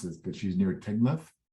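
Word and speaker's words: Teignmouth: She's I'll mispronounce this, but she's near Tidmouth. Timoth.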